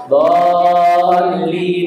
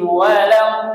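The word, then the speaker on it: ولا الضالين: ghairil ghairil maghdubi alaihim waladin. Amin. Amin. Itu enam harakat, Bapak, Ibu. Jangan dibaca dua harakat dolin itu kurang ya. Enam harakatin jangan dolin doin donnya pendek linnya panjang waladin salah doin.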